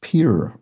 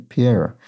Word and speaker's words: Pierre: case pointing out that the capital of South Dakota is pronounced pure rather than Pierre sorry about that I